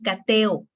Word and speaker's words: cateo: Como son tan fuertes, se repelen. Entonces ya te dice, ¿sabes qué? No podemos convivir. Vete a otra sílaba y se va. Y ya tenemos cateo. Cateo. Son 3 sílabas.